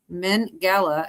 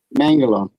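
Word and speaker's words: Mengele: Did you know Joseph Millang Mengala aka the doctor of death was doing genetic testing during World War II? Mangala.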